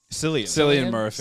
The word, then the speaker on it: Cillian Murphy: Cillian Murphy.